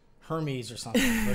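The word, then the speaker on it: Hermès: Calling that one that starts with an H, like Hermes or something. But it's Hermes.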